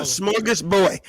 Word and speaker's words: smorgasbord: No, you said it right. A smorgasbord, not Borg. A smorgasbord is what you said.